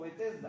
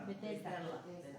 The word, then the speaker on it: Betesda: queda y lo tradujeron como betesda diga conmigo betesda betesda bet betesda betesda betesda traduce a nuestro idioma